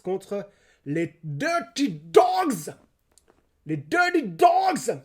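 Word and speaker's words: Dirty Dawgs: Les Dirty Dogs. Je prononce comme ça parce que c'est D-A-W-G-S.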